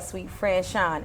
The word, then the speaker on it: SuiteFranchon: Suite, SUITE, like the hotel, SuiteFranchon, FRANCHON.